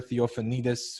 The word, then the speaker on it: Theofanidis: let's talk off the podium i have christopher theophinitis with me welcome to the podcast thanks tiger